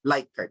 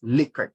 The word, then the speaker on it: Likert: the choices plus you refer to that as your light card scale others would pronounce it pronounce it as likert scale okay so that's your